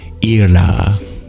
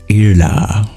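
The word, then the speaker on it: Ila: And it's a very difficult name to pronounce because it's a retroflex lateral approximant. Irla. Irla.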